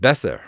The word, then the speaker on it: Besser: all these wonderful distortions David besser rhymes with lesser almost got it on